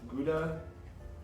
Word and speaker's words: Gouda: Gouda, Gouda. Gouda, Houda, depending on who you are.